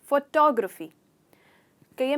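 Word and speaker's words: photographic: यहाँ पे हमारा स्ट्रेस होता है ग्र पर, तो फोटोग्राफिक, फोटोग्राफिक।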